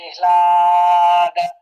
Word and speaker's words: ह्लाद: ये इसमें ना, ये जो आधा ह है, ह जो है वो आधा अक्षर है, और जो ल है ये पूरा है। तो ला थोड़ा ह को थोड़ा कम टाइम के लिए, शॉर्ट टाइम के लिए प्रोनाउंस करते हैं, और ल थोड़ा पूरा बोलना पड़ेगा।